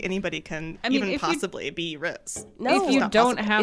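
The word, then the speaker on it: Rhys: Riz or is it Reese? Reese. Okay, we're just going to do whatever we want. I will just say Reese. Okay. It's Reese. No, we can say whatever. I mean, pronunciations are up to us.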